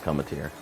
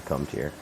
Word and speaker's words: Cometeer: come to your coffee it's actually pronounced cometeer cometier something like that it's not actually comes here but uh um that